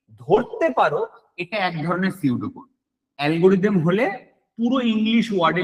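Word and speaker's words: pseudo: flowchart এরপরে আসে সিউডোড সিউডো কোডের বাবা বানান এটা পিটা সাইলেন্ট থাকে সিউডো মানে আমরা প্রত্যেকে জানি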